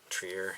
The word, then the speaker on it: Trier: one of my favorite films 2021 walk Trier Trier I say his name for